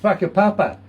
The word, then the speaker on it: Whakapapa: And it's spelled with a WH, not an F.